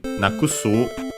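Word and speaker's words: なくす: get rid of uh but actually nakusu uh unacented despite n on its own actually being accented. So be careful.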